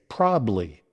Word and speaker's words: probably: Now, many people tend to say probably, drop in the second syllable entirely. While this shortened version is common in casual speech, it's important to know how to pronounce it correctly for clear and confident communication. To pronounce it properly, make sure to enunciate all three syllables. Probably. Probably. Let's break it down. Prob, like problem, without the lem. Ub, a short ub sound. And ly. L-Y, pronounced Lee.